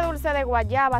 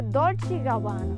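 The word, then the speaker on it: Dolce & Gabbana: dulce guayaba Oye ahora no se dice dulce de Guayaba se dice dolch gabana Ah dulce gabana me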